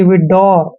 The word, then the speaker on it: widower: यहाँ पे W हमेशा साइलेंट रहेगा और ER को हमने क्या पढ़ना है? रे, यानी कि विडोर, क्या पढ़ते हैं?